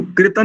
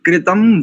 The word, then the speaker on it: कृतम्: दो शब्दों में देखो कृतन नहीं करेंगे यह सभी ध्यान दे यहां पर अनुस्वार को मकार करेंगे कृतम वाम कृतम बाम और र